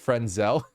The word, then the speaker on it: Fresnel: sit on just saying it's pronounced frel don't get me started first of all it's spelled fresnel not frenzel just to be very